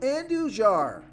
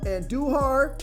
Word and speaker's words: Andujar: i like here is miguel andujar or i know i'm pronouncing that wrong and duhar yeah and duhar and he's got a